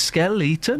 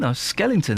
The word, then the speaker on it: skeleton: I was saying it's Skeleton. Skellington, that's how you say it. Skell-E-ton. Skellington.